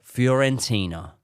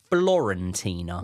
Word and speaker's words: Fiorentina: Then we lost 1-0 to Fiorentina, who I grew up thinking it was Florentina. Yeah, well, it's easily. I think done. most people It's did, easily isn't it? done. Yeah, Easily absolutely. done. Fiorentina.